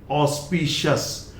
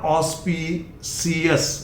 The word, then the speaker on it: auspicious: Then again this is ऑस्पिशियस, not auspicious, not CS, shus.